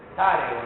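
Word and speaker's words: Sessarego: Cesareo, ¿no? Que es la pronunciación correcta.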